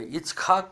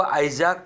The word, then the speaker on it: इस्हाक: इस्हाक का मतलब होता है हंसना हिब्रू भाषा में, उसको आइजाक बोला गया है, वो भी थोड़ा गलत उच्चारण है, इसलिए हमने इस्हाक उनका